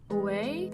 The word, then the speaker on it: Ouai: and Jen Atkin did a collab, and Jen Atkin is a hairstylist and she has the brand, I think it's pronounced Ouai. It's O-U-A-I.